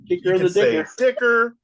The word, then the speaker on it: Dicker: Dicker the Kicker. It's so explanatory. It rhymes. Dicker. Yeah.